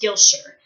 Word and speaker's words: Gilshire: That's one of the running jokes in the book, is that it looks like it's spelled Gwilfifeshire, but it's pronounced Gilshire.